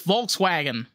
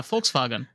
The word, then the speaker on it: Volkswagen: you know they're like oh it's Volkswagen no it's vks vag no it's folks folks right FKS vagen yeah folks Fagen yeah the W is a V and it's just like